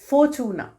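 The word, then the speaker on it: Fortuna: इसकी प्रोनाउंसिएशन पे स्पेशली ध्यान देना। फोर्टूना, फोर्टूना, फोर्टूना। तो टी नहीं बोलेंगे हम, फोर्टूना। तो इट्स लाइक फॉर्च्यून जो हम इंग्लिश में बोलते हैं, यहाँ ये प्रोनाउंस होता है फोर्टूना।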